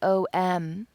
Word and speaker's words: Om: And we don't realize that while it's spelled OM, it's not pronounced Om, it's pronounced Om, like the word ox, O-X, ox.